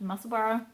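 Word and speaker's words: Musselburgh: Edinburgh is spelled Edinburgh but it's pronounced musselboro like Edinburgh it's a town I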